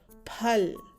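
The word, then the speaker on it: फल: Pen, p, and this is the forceful sound of p, that is p, and lemon, l. So it's p plus l, phal. Phal. We pronounce this as phal.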